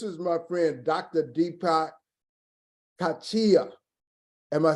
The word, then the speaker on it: Kotecha: Deepak Kotecha. Am I saying that right? Kotecha.